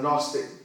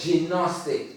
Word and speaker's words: Gnostic: press, she is a Gnostic priest, high priest, okay? I call it, by the way, I call it gnostic. Okay. I know the G is silent, Right.